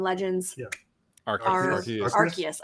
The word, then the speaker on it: Arceus: yeah our cards or arceus i want to say our chaos every time arceus or arceus it's